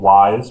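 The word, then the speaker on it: Wwise: popular ones are they're called wise which is spelled with two W's WWI i e and fod fmod and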